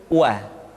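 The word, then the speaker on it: و: Selanjutnya huruf wa diucapkan dengan cara memonyongkan dua bibir kita.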